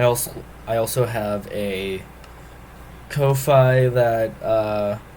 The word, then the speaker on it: Ko-fi: Um, I also I also have a Kofi that uh or coffee I guess it's technically supposed to be pronounced where you can support me directly.